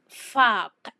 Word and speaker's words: فاق: So for the pronunciation we have faq, faq. Number 9 is the q sound.